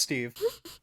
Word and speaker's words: Steave: He's Swedish. It's pronounced Steve.